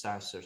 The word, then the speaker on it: SaaStr: How do you pronounce that? What is that exactly? SaaStr.